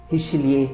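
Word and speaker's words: Richelieu: Richilier, melhor falando, se escreve richilieu, mas a gente fala richilier, né?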